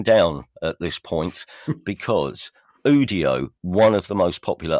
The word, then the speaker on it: Udio: Am I pronouncing that right? I think so. Yeah. Udio. Yeah. Okay. So Udio, so Udio is facilitating an absolute deluge of music already, and this can only increase, can it?